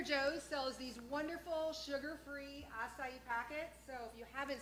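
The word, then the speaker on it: açaí: making acai bowl. And how do you pronounce that again?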